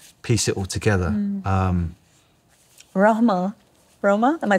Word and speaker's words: Rohma: Roma?